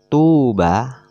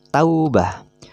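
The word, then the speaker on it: توبة: bukan termasuk bacaan Mad kalau madnya dibaca Tuba panjang tapi kalau ini berharakat fathah tidak boleh dipanjangkan kan Tapi bacanya Taubah Sufa saufa jufa jaufa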